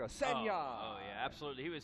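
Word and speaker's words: Sanayei: Is that Darian Sinai? Mispronounced across America. Senya.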